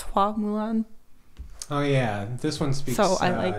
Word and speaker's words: Hua Mulan: name is in the original animated movie is Fa Mulan, but they changed the pronunciation to be more accurate. So it's Hua Mulan.